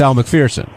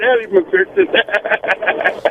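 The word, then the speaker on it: Elle Macpherson: It's Al McFersonson. Yeah. Not Eddie McFersonson.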